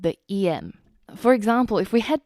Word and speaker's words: em: actually a completely different em and the em in this case is actually the phonetic pronunciation of the letter M and the reason is